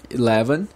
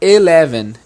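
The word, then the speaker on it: eleven: O 11 e o 12 é o seguinte, o 11 é 11. Algumas pessoas pronunciam 11, mas o som é mais, esse E é um som que a gente chama de schwa, é um 11, right?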